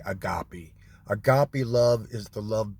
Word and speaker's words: agape: But in the human realm, so it's called agape love. I've heard it pronounced other ways, but I'm going to say agape.